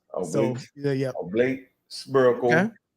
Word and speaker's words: oblate: I was calling it oblong, but no, I was calling it oblong, but it's actually oblate. Oblique. So yeah. Oblate, spherical, Okay.